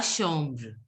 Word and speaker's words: chambre: La Chambre. La chambre. La chambre. La Chambre. A-M is pronounced as om. So it will be chambre.